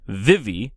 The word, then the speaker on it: Vivi: And Vivi, and it is pronounced Vivi in the show at least, is the little girl, the daughter.